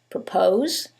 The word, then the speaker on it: propose: in the first one it's the second syllable that's stressed and in the second one is the first syllable and that changes the pronunciation completely the first word is propose and the second word